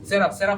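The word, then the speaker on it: seraph: তো যাই হোক, উচ্চারণ হবে সেরাফ। কি হবে? তো এটাকে দুই ভাবে করতে পারেন, শেরপিম অথবা সেরাফ।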